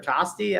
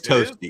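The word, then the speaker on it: Tosti: like I don't know I think I said toasty or tosy I it's toasty toasty same like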